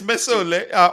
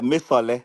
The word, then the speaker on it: Mesole: I remember him telling me that his name is pronounced Mesol. Mesole Jude. Yeah, There's no Coach Chief, le. I thought it was Mesole. No, it's Mesole. Or even I don't think I'm pronouncing it correctly. It's a Yoruba name. Correct me if I'm yeah, wrong, Jude. it's Miss Sole. Yeah, you guys are trying. You tried at Yeah, least. Mesole. Mesole.